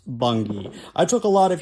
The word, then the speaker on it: Bungay: Now, the next stop here is the Druid Stone of Bungay, which I've been told is pronounced Bungay.